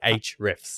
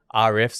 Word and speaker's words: Ahrefs: That's how I've been told you're supposed to say Ahrefs. Oh, is it? Not RFs. I said RF my whole life. RFs.